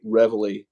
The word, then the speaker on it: reveille: So if anybody hears us say reveille, that's how the Americans say it.